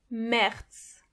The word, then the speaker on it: März: The sound it makes is A. A. It's like an A but soft, a much softer. A. Those are some words that use this letter. März.